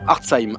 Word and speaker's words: Hartzheim: Hartzheim, H-A-R-T-Z, comme ça se prononce.